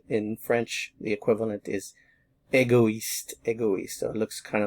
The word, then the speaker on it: égoïste: When you have the tréma, it forces you to leave this in its own syllable, and this is a new one. So we have égoïste.